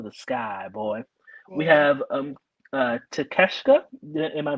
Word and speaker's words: Takeshita: We have Takeshita. Am I pronouncing that correctly? Yes, Takeshita.